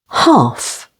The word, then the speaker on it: half: L can be silent before F, as in behalf, stress on the second syllable, behalf. Calf, half.